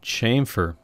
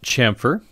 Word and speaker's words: chamfer: I also have this option to chamfer. This is commonly pronounced chamfer as well. Both work. I say chamfer, but I think most people say chamfer.